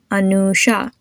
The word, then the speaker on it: Anusha: Anusha. You have the U, which is pronounced as a double O.